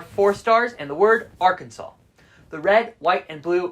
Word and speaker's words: Arkansas: into this let's clear some things up its Arkansas not Arkansas the Arkansas legislature passed a bill in 1881